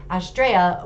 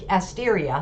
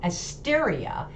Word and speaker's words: Asteria: a degree so that australia which asteria sorry i keep saying it wrong asteria is actually also about